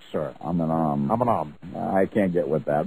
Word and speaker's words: Eminem: That is pronounced Aminam. You are correct, sir. Aminam.